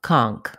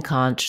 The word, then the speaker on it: conch: to pronounce conch or conch two correct ways letter o in conch says the ah vowel in one pronunciation the letters n c h say an n and a ch sound conch another way people